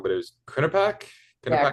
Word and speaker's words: Quinnipiac: Tell me if I'm pronouncing this wrong, but it was Quinnipiac, Yeah, Quinnipiac University.